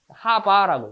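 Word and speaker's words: ħ: 막대기 영어로 뭐라 그래요? 하, 막대기, 바. 하바라고 해요. 하바.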